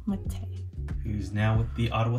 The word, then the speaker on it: Mete: Yeah, that's an easy one for you to pronounce. That's good. And then we've got Victor May. Victor Mete. Mete.